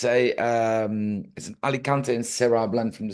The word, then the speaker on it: Alicante: because there's no apostrophe on the E. So I'm guessing that it's not Alicante, No. it's Alicante.